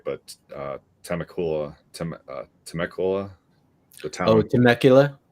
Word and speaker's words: Temecula: Yeah, I figured you got it from, I don't know if I'm pronouncing it right, but Temecula, the town. Oh, Temecula? Temecula, yeah.